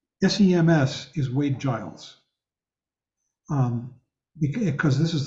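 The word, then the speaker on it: སེམས: The vowel E, Tibetan letter M, and the Tibetan letter S again, even though the final S is not pronounced.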